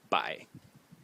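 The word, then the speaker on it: 百: So number 100 is pronounced bai in the third tone, and this is a classical phono-semantic compound.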